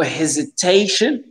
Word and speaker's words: hesitation: Juste le mot hesitation, bien forcé sur le T.